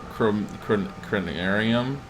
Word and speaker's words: Conarium: I remember how to pronounce it. Conarium.